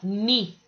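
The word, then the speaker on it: knee: A 5 tá falando ni. Professora, mas não fala o K não? Não. Nesse caso aqui o K é mudo.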